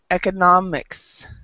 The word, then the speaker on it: economics: So the mistake that many non-native speakers of English do is they get the economics correct, and then they pronounce economy like economy. Economy. So, but remember, it's economy. Economy. Yeah, economy. Economics. So very different in the way it's stressed.